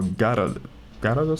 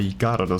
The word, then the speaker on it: Gyarados: Seek me out when you have a Gyarados scale. I'm pretty sure the Y is silent in Gyarados in English.